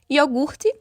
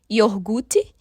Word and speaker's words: iogurte: transposição por uma posição diferente em relação a sílaba iogurte que hoje nós percebemos que diversos falantes acabam trocando o r de posição yorgut perguntar muitos falantes acabam trocando também a posição